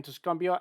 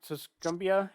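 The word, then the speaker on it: Tuscumbia: X to were in tusumbia I believe that's how it's pronounced tusumbia Alabama uh your lineup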